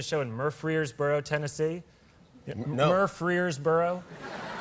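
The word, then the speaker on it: Murfreesboro: in murer Boro Tennessee mboro I'm pronouncing it correctly I'm not mispronouncing it that's how it's pronounced that's a place mboro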